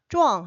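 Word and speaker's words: 壮: 자, 그랬더니 박대이 오 짱파인 차 또네 짱과 쪼앙이 발음이 비슷하네 그랬습니다. 잘 안 들리겠죠? 쪼이라는 발음이 잘 안 들려요. 쪼앙 하면은 짱 이렇게 들리기도 해요.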